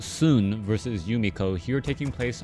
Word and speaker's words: Xun: Hello, everyone, and now welcome to a game between, I think his name is pronounced Soon versus Yumiko, here taking place on Northern Isle. We have Soon spawning as the red undead over here on the bottom left-hand side of the map.